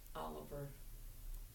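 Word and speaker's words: Olivier: brother yes Tom Tom Oliver only you spell it o l i v i e r right but they all pronounced Oliver not oliv and um yeah he was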